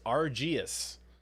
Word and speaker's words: Arceus: this one's immediately funny nintendo confirms arceus pronounces arges i love it i like that too i think that's actually arceus i think that that